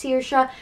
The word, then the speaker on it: Saoirse: spelled sa o IR as E but it's pronounced Saoirse and is Irish Gaelic for freedom and it